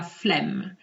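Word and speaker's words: flemme: sounds ten times better so here i'm pronouncing the two m's je la flemm je la flem de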